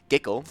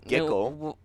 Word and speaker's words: Giggle: sand king we have giggle it's right it's like nickel but with a g so giggle okay okay yes yeah